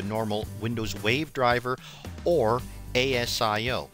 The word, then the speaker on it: ASIO: windows wave driver or asio some pronounced at SEO the beautiful thing about